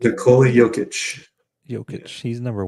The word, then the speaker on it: Nikola Jokic: Nikola Jokic. Nikola Jokic.